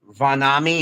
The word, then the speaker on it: Vanami: I think the pronunciation is Vanami, I think. Vanami, yeah. Yeah, with the AH there before the M, I think it's with the ah sound. So yeah, it'd be Vanami. All right.